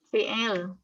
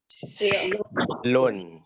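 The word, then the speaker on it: فعل: Fi'il. Ya, kita bacanya fi'il, tapi aslinya fi'. Fi'lun ya. Fi'lun.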